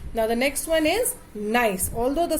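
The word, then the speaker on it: gneiss: the next one is nice although the spelling is g n e i double s but we spell it as we pronounce it as nice this is actually formed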